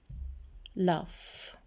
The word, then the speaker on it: laugh: هلأ في كلمات مثل laugh يضحك GH make the F sound.